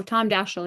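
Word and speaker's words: Tom Daschle: This is in the in the Senate and how you pronounce his name, Rachel. Oh, Tom Dashel.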